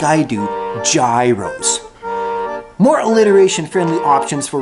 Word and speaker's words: gyro: them freedom sandwiches third gyro is inconsistent with the pronunciation of gyrate and gyration we don't tell our lovers oh baby yeah yeah great all over me no Dewey that should be gyro gyrate gyration gyros fourthly a lot of